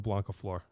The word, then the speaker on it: Blancaflor: Blancaflor.